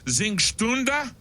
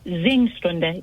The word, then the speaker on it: Singstunde: It is Singstunde. Is that right? Very good. Singstunde. Yes, it is sing, which is obvious, S-I-N-G, and then Stunde, which means hour in German.